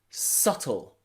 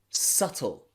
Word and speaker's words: subtle: silent b okay but you'll also find a silent b in words like debt debt and subtle subtle it's a little bit